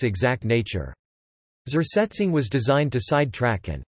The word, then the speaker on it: Zersetzung: The Stasi perfected the technique of psychological harassment of perceived enemies known as Zersetzung, pronounced ZDS, a term borrowed from chemistry which literally means decomposition.